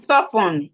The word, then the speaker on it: soften: The T is silent.